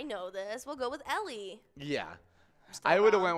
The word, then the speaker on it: Ely: ellie is it ellie well actually that is the common mispronunciation this is ellie the actual pronunciation is ely who knew three letters could trip people up so hard i would have said eli yeah it's e-l-y um i think will